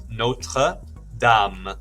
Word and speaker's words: Notre Dame: Unfortunately, we pronounce it wrong in English, like when we're talking about sports teams. People say Notre Dame, they should be saying Notre Dame.